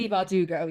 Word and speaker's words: Leigh Bardugo: Leigh Bardugo, yeah.